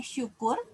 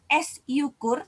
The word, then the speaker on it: syukur: Pelafalannya tetap dibaca S, tapi contoh katanya syukur. Artinya kita tidak menggunakan S yukur, tidak dibaca begitu ya. Kita tidak membaca S yukur, tapi syukur. Artinya Y-nya menjadi seperti hilang dan digantikan, diwakilkan oleh huruf S.